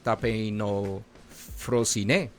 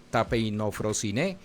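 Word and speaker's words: ταπεινοφροσύνη: El significado bíblico de humildad en el griego viene de una palabra que se pronuncia así, tapeino frosine, tapeino frosine, compuesta por tapeinos que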